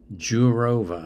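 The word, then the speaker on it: Jourová: Jourova, I guess it would be pronounced. J-O-U-R-O-V-A.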